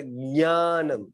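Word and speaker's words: ज्ञानम्: दूसरी परंपरा है वो ज और य को मिलाकर ज्ञानम ऐसा कहते हैं। तो ज्ञ को कैसे कहना है? ज्ञ को नाक से निकलना चाहिए, वो ये प्रारंभिक है।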